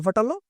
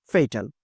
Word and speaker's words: fatal: করে মাথা ফাটানো মাথা ফাটালো এটাকে আমরা এভাবে চিন্তা করি মাথা ফাটালো এটা প্রাণনাশক মারাত্মক ফাটাল বা সহ সঠিক উচ্চারণটা হচ্ছে ফেইটাল এভাবে চিন্তা করলে আমাদের